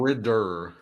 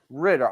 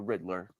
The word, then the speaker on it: Ridder: listen Desmond Riddler R how you pronounce his right name Ridder Ridder I almost I keep wanting to call him the Riddler Desmond Ritter listen how